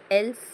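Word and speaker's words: elf: suffix लावलेला आहे का एल्फ एल् एल्फ एल् या ठिकाणी एल सायलेंट नाही एल्फ मध्ये तर एफ च्या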